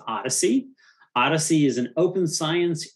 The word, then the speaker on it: OHDSI: uh patrick is is a founder of the observational health data science and informatics community this is pronounced odyssey odyssey is an open